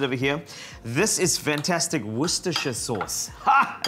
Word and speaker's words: Worcestershire: This is fantastic Worcestershire sauce.